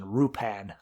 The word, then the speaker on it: Lupin: they would dump it in the Japanese pronunciation rupan so so but I